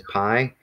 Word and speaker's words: pi: And then this one here, I think in math class, algebra, we're learning it as pi. The Erasmian approach pronounced it as P. So kind of like our letter.